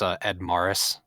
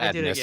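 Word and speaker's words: Edmaris: It's Ed Morris. Just so you know. Ed Morris? Sorry. Did I do it again? Yeah, not Edmus.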